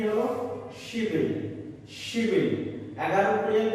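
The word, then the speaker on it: 십일: বিয়োগ যদি মিডিলে যায় তাহলে বিয়োগের উচ্চারণ ব করতে হয়, এখানে ব হলে বিল হয়ে যায়, অর্থাৎ শিবিল, শিবিল।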